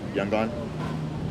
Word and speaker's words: Yangon: Like I grew up in the biggest city of the country, Yangon. Well, that's the way the English say it. Yangon.